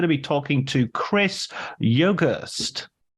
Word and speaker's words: Yogerst: And today I'm going to be talking to Chris Yogerst. How did I do? Did I nail the pronunciation? Yep, you nailed it.